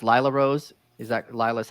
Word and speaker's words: Lila Rose: The first one is her name pronounced Lila Rose? Is that Lila's how she's pronounced? Lila Rose.